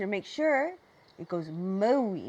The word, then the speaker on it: Maui: Now I want you to make sure it goes Maui, not Maui. So you make your mouth a little bit tighter and it sounds like this. Maui.